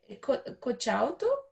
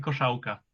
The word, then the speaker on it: Koszałka: Um outro filme que ele cita Let's see if I can pronounce the name. Kochauto? Kochauto is that? Koszałka. Kochaut. Okay. Maitre Koszałka. Kochaut. Okay. Marcin Koszałka.